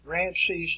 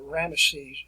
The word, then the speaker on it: Ramesses: this period of time ramses the third or more probably it would be uh ramesses is a little bit better pronunciation with that this is the uh